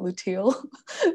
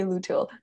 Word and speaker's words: luteal: then resting during the i cannot pronounce it luteal luteal phase material yeah yeah during the luteal i used to say luto in the luteal phase